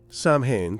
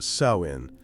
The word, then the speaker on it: Samhain: Sam Hain pronounced Sawin was not just another festival.